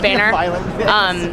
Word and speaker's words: Boehner: And we remade it featuring the face of John, I believe his name is pronounced Boehner, who is really trying to wreak havoc in the Smithsonian Institution right now.